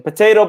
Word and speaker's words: potato: So in English we can pronounce the word potato two different ways.